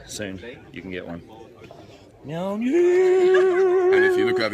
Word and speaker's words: Mjolnir: And correct spelling is Mjolnir, pronounced Mjolnir. Mjolnir.